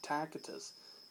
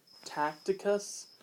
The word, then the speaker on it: Tacitus: in short TG well not a lot of people can say tacitus or I've heard people say tacticus tacitus you know it's really hard to pronounce that word so in short it's